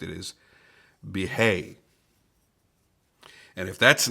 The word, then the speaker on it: Bihai: front flipper from best tech this is the behave at least that's the the best way I've found to pronounce it I have looked up the pronunciation on Google more than once I wanted to say uh Baha'i but apparently that is not correct it is